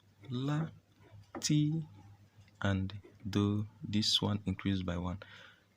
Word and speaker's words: do: it is not d or it is called do it is pronounced as do after this do there is